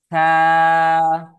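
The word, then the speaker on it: ث: থা উচ্চারণের সময় জিহ্বার আগা, এই যে জিহ্বার আগা সামনের উপরে দুই দাঁতের আগার সাথে লাগবে, এই যে এই দুই দাঁতের আগার সাথে। থা।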